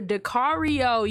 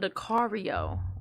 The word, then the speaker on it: Dakario: Really quick, I want to focus on Dakario. Okay, for those of you who don't know, it's like Dakario rhymes with Mario, and he got the super in front of it, and it ain't for no reason.